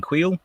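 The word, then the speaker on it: Kuiil: before but now no the next correct pronunciation being queal so that for me is good so I can no longer well hopefully no longer butcher it and surprise surprise pleasantly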